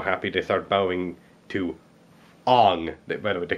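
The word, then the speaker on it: Aang: huge deal but really if if you watch the Animated Series yourself and you were scripting this thing you you would have pronounced it Ang you know I don't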